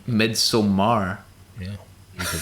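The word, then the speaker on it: Midsommar: you say it midsummer mid-summer mid-summer most people just say mid-summer mid-summer yeah but it's with an a it's midsomar yeah you could say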